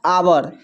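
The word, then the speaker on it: hour: तो पहला देखिए यहां पर जब एच के बाद ओ रहे तो एच साइलेंट होता है। देखिए यहां पर इसको पढ़ते हैं आवर।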